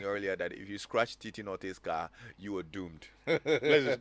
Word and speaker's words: Teete Owusu-Nortey: Yes, I'll make sure that the name is pronounced Teete Owusu-Nortey, yeah.